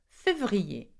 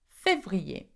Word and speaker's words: février: Quite hard to pronounce. Février. Février.